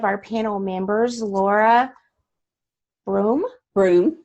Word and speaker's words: Broome: Broome. Broome. I pronounced it right. It has that E on the end, so it threw me a little bit.